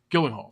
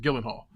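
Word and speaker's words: Gyllenhaal: Hall Jake Gillen Hall Gillen Hall that's how you pronounce it Gillen Hall Gillen Hall all right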